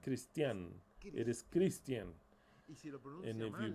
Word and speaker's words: Christian: And you pronounce it as Christian. I'll write it to you, and if you mispronounce it, like some of you do, that put an accent mark in the A and they call me Christian, that's not my name, Christian.